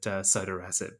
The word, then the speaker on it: sotorasib: Well, I've heard it both ways, but I think the people who have lots of Twitter followers and lots of publications tend to pronounce it sotorasib.